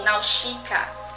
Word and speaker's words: Nausicaä: De onde vem o nome Náusicaa, ou Nausicaa, como na pronúncia em japonês?